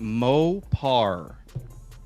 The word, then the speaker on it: Mopar: podcast my name is mopa i am i should probably pronounce mo par i'm sure people like